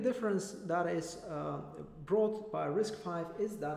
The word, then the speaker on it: RISC-V: questions and answers so risk 5 is written like this but it's pronounced risk 5 because it's the v is for the roman symbol for the digit 5 it is an open